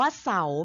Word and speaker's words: เสาร์: การันต์ 1 ตัว ค่ะ คำ แรก อ่าน ว่า เสา มี รอ เรือ เป็น การันต์ ค่ะ คำ ที่ สอง คำ